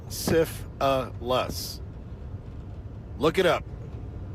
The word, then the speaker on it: syphilis: Syphilis is three syllables. Sif a lus.